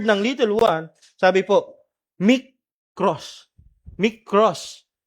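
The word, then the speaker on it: μικρός: Sabi po mic cross. Mross. Micros. Gann po 'yung pagkaka ah ano ba tawag doun ka?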